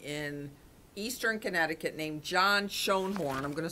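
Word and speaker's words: Schoenhorn: by an attorney in eastern Connecticut named John Sean horn I'm gonna spell it for you it's a SCH o e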